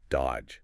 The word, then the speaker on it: dodge: You don't say that middle D at all. It's just dodge.